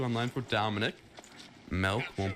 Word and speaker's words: Melk: Melk is gonna go down, and I love that his name is Melk because I spell it and pronounce it M-E-L-K.